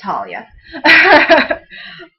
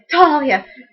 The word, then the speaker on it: Tahlia: So I'll write Talia, T-A-H-L-I-A, and then in parentheses, T-A-L-L dash Y-A, parentheses.